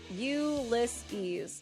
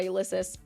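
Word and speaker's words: Ulysses: refund yeah no problem also it's uliss ulses Ulisses okay I always thought it was a ulyses okay I can try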